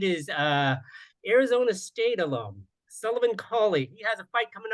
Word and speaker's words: Cauley: I'm sorry, did I pronounce that right, Cauley? Yeah, Cauley.